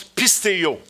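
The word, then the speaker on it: πιστεύω: C'est un mot grec qui est écrit, qui se prononce « pisteo ».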